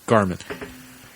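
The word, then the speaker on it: Gharman: Oh, yeah, the H is silent. Garmin.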